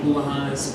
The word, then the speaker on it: Bulahanis: It's Bulahanis, boo like a ghost, la like a song, ha like a laugh, and nest like a monotonous monster.